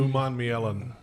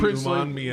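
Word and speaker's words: Umanmielen: Uman Mielen. Huh? Yeah. Princely Uman Mielen. We just call him Princely. Princely Uman Mielen. Uman Mielen. Yes. Say it again. He was a Gator. Uman Mielen.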